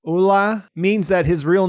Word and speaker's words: Ole: So I do understand that this, along with Gator saying that he pronounces it Ulla, means that his real name is Ole Munch.